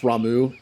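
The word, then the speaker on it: Ramuh: invite rama didn't they i know it's probably pronounced ramu i i just tend to say rama that's how i always pronounced it in final fantasy games do you ever think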